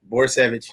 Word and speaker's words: Borysewicz: Borysewicz.